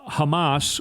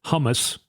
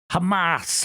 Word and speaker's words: Hamas: it in context uh Hamas or as trump pronounces it humus there was a moment